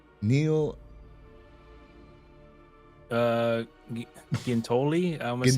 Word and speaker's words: Giuntoli: was his, how do you pronounce his last name? Neil Giuntoli. I almost say Giuntoli. There we go. Giuntoli.